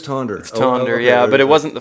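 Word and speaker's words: Tønder: it's this festival called tuna tonder if you're pronouncing it like I used to oh so it is tonder yeah but it wasn't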